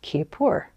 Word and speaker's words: kippur: Another way of pronouncing this word is Kippur. So if you think of Yom Kippur, it's the Day of Atonement.